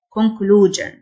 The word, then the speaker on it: conclusion: خاتمة أو خلاصة conclusion ال-s-i-o تنطق ج conclusion عيوب cons cons علاقات